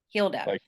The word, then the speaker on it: Hilda: staying with you and how do you pronounce your name again Hilda Hilda h-i-l-d-a is the pronunciation okay is she the